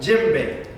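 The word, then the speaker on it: djembe: like okay say if somebody's first name was jim right and their last name is what babe so this drama is called what gym baby okay sometimes you'll see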